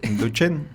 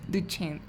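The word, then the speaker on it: Duchenne: una duda Cómo es distrofia muscular y la pronunciación cóm es duchen duchen Okay nos podría hablar Qué es de Qué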